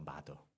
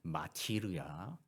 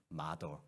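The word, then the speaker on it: martyr: 발음이 매우 힘들어요. 마더예요, 마더. 엄마? 아니에요. M-A-R-T-Y-R. 그래서 이거 마티르야, 마트로리아 그랬더니 제가 이제 구글링 해가지고 발음해 보니까요, 마더. 그래서 희한하다 생각했는데 이 말은 순교자라는 뜻입니다.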